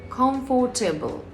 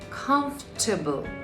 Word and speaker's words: comfortable: It's not comfortable. It's comfortable. Comfortable. See the difference? In natural English, we don't pronounce every syllable clearly. We reduce some parts and stress others.